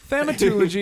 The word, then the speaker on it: Thaumaturgy: Thaumaturgy or whatever. Thaumaturgy. Yeah. I say it wrong every time. Thaumaturgy is right.